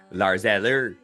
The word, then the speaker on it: Lars Eller: Lars Eller is uh chipping in here and there